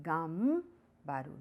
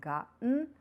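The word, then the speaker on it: がんばる: One important thing over here is though the pronunciation is m the spelling is n, it is gambaru, not ganbaru; also kondo／こんど means the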